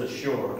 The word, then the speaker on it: Ashur: You're talking about Assyria in English and how in Hebrew it's Ashur.